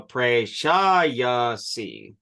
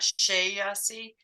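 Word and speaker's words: प्रेषयसि: Williams would tell you, you put the emphasis on the third syllable from the back. So Prashayasi. It's not Shayasi. No, yeah, it's Prashayasi. Okay.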